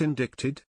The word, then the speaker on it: indicted: in campaign Finance law normally yes the sea would be silent however in the particular